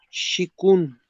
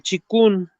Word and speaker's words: Qigong: Busca en internet, se escribe con Q, Shikun, así se escribe, Qigong, así se escribe. El Qigong o el Chikun se llama o significa trabajo fuerte.